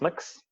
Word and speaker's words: Mx: really yet exists or MX it was a very popular near pronoun pronounced mix some people even go